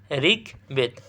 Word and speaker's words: ঋগ্বেদ: এরপর ঋগ্বেদ, এর শরীর উচ্চারণ কী হবে? ঋগ্বেদ।